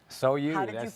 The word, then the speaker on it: SOU: and we cook from our soul so you so you the name which we're gonna throw this out there because you know you've gotten it before it's sou sou some people have a lot of trouble is